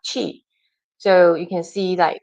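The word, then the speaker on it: qi: How can we use the energy in Chinese uh you know pronunciation is actually uh chi.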